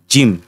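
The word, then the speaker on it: gym: পাশে যখন ওয়াই থাকে তখন এই জি এর উচ্চারণ মূর্কি জ এর মত হয় যেমন এই যে জিম জি এর পাশে ওয়াই আছে এর জন্য জি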